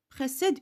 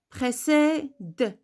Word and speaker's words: précède: Comment je vais prononcer cette syllabe? D. Précède. On ne dit pas précède. Précède. Fier. Possède. Vous écoutez? D. R. D. Pourquoi? Parce qu'on a un E muet.